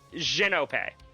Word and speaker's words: Genope: It's Genope. With a J. Jin.